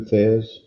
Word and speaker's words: Thesz: Aliosis Martin Thez, I probably butchered his first name. Went by Lou Thez in his professional career.